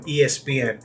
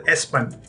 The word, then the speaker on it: ESPN: to be telecast on ESPN, and we were so naive during those days that we called ESPN as some of us called it as Espan. We did not know how to pronounce it.